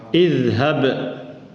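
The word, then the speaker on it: اذهب: Jadi yang beda kalau dia fathah aja, maka dia kasrah. Jadi bacanya gimana? Idhab.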